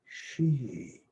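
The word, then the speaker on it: 嘻: the triple burner sound x i pronounced she like s s-h-e-g so as we inhale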